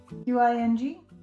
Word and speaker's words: Qing: This is a beautiful silky merino single in the colorway Narwhal by, I think it's pronounced Qing Fiber, Qing, hand dyed in the UK.